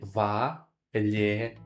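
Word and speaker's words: Валерий: If you want to say Valery, you just follow me, Valery. In Russia, we don't have like R sound, it's like R. So Valery, Valery.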